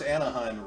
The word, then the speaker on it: Anaheim: Of course, Anaheim rhymes with Sponheim, so you know what I mean.